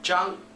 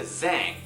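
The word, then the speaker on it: Zhang: one more time W the next one is Jung this one is notorious for being mispronounced almost every single time so listen to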